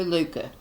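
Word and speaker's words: Lykke: i'm sure but it's she said when you breathe out it's loose you so luca it's the closest we can get closest we could probably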